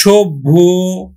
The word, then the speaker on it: সভ্য: পায়, নিয়ম 3 নম্বর, আদ্য অ প্লাস কি পায় যদি জফলা পায় তাহলেও কিন্তু ও এর মতো উচ্চারিত হবে। যেমন দেখো পদ্য, গদ্য, পদ্য, গদ্য, সভ্য, পদ্য, দেখো এখন দেখো পদ্য উচ্চারণ হবে, পদ্য, গদ্য, গদ্য, গদ্য, সভ্য, সভ্য। শিক্ষার্থী বন্ধু লক্ষণীয় জফলা থাকলে